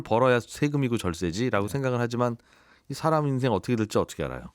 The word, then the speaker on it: ISA: 그래서 이 연말을 업계에서는 이제 이사 처리다, ISA 처리다 이렇게 부르기도 합니다. 그래서 ISA를 이사라고 발음하는군요.